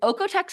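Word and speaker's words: OEKO-TEX: otex certifi so okay which otex is spelled o e k- t x so if you're like what what is she saying that's what I'm trying to say yes it is a confusing word to look at and then it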